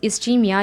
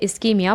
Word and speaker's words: ischemia: तो जैसे blood flow कम हुआ तो इट कैन कॉज इस्चीमिया या इस्केमिया, what ever you pronounce, it's वन एंड the same.